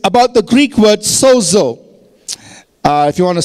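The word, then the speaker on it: σώζω: in the past it's about the Greek word Soo uh if you want to spell it down write it down in English you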